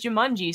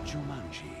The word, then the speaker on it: Jumanji: I've watched the movie 1,000 times, and I swear to God, in the movie, they do pronounce it as Jumanji, so I went and bought it and looked it up.